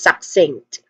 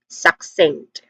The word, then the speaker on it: succinct: Pronunciation wise we have two distinct sound starts with suck. s which is a short a vowel sound and then sink which has a nasal sound in the middle the ng sound.